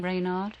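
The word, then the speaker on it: Renard: I read in your book about Gary Rayard. Is that how you pronounce his name? Rainard.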